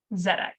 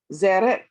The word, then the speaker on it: Tzedek: It's how you pronounce kind of like you don't really need to say the T. You can just say Tzedek. Tzedek. Tzedek.